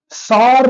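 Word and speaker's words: Tsar: went from bad to verse of course क्योंकि बहुत सारे डेवलपमेंट हुए पैसे बहुत खर्च हुए डिप्रेशन आने लगा तो जो इसके वो थे हेड कम्युनिस्ट थे राजा तो नहीं बोल सकते सार निकोलास वन गिव अप इन्होंने बोला भाई मेरे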